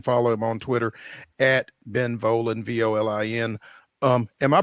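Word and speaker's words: Volin: him on Twitter Ben volan Vin um am I pronouncing that correct it's not Vin or anything like that okay great I say it rhymes with stolen so you got it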